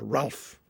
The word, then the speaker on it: Ralph: The present one is called Ralph, or Rafe, I believe is the pronunciation.